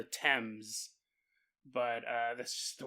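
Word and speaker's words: Thames: it the times and because I knew it wasn't pronounced fames and then uh when I was editing I looked it up it's called the temps but uh that's just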